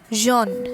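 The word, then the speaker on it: jaune: what is yellow called in fringe that is john j a u n e all right what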